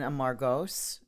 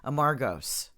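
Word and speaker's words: Amorgos: Well, I would say Amargos, and they were like, "Where?" I'm like, "Amargos Island." They're like, "Oh, Amargos." I'm like, oh, "Okay." You put the wrong emphasis. So on the wrong Amargos syllable.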